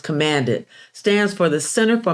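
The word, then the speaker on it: CMD-IT: CMD-T, pronounced commanded, stands for the Center for Minorities and People with Disabilities and Information Technology.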